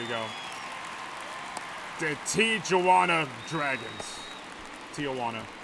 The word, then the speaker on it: Tijuana: Tijuana. I pronounce the J.